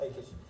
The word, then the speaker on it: Achish: Sorry, that's how you pronounce it. Achish.